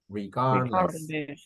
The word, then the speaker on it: regardless: of price regardless okay this is a trick to to pronounce the word correctly do not pronounce the d regardless regardless so just yes uh maybe